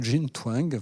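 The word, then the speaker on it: Jean Twenge: livre très intéressant de jein Tang prononce comme ça jein Tang est américaine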